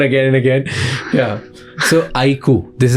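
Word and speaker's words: iQOO: So IQ, this is how you pronounce it.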